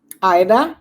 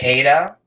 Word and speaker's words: Aida: Aida, you said it right. Aida, yep. See, because a lot of people say Ada. No, that's not correct.